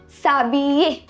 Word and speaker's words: s'habiller: So here you see H is not pronounced. And you already know double L is ye. So we say s'habiller, which is to get dressed in English.